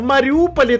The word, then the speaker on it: Мариуполь: Ну да, у Маринки 7 букв, а у Мариуполя 8, но мягкий знак не читается. Получается «Мариупол» и «Маринка».